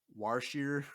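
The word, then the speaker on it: Wroshyr: I don't even know how to pronounce it because it's Shuriwook language, but it's the Warshir. That's what I say.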